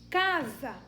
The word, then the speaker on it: casa: Casa, tem o S no meio, mas o S tem o som de Z.